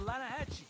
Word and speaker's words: Lanahatchee: You mean the Lanahatchee River? No. The Lanahatchee. It runs right near here. Yeah, but it's pronounced Lanahatchee.